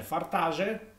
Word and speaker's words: Fartade: Fartade si legge Fartage e invece quello si legge Quejo.